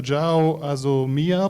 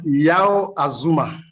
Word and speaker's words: Yao Azuma: Professor Jao Azomia, please, are you with us? Yeah, it's Yao Azuma, please. Yo Azuma, sorry Yeah.